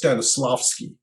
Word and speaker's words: Stanislavski: I guess my very first teacher, I think his name is pronounced Stanislavski, and he was a